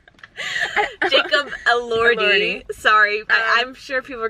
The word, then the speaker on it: Elordi: a second, but I wonder how much Jacob Elordi. Yeah, I wonder how much, like, the character, or is it Elordi? I think it's Elordi. Oh shoot, Eldori. Jacob Elordi.